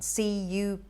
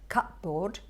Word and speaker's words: cupboard: calendar i've heard people say that the right pronunciation is calendar and what about this one a r c-u-p-b-o-a-r-d and you're not at fault if you're saying cut board or cut bird because the ep is actually silent and you're